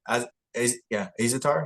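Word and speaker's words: Azaitar: Azatar?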